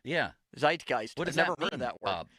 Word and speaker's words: Zeitgeist: also does feel like his affinity for Pittsburgh should be back in the Zigest. Is that the correct pronunciation of that word?